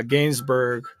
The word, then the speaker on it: Gainsbourg: yeah yeah um where it has serge uh gainsbourg did i say is that how you say